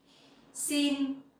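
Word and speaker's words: xin: sin down sit down the X sound you will pronounce like in English like the S sounding language okay it's like in speaks so scene and the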